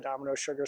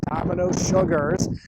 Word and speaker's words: Domino Sugars: If you look at that sign, it has an S on the end. It is Domino Sugars. We in Baltimore have somehow dropped the S.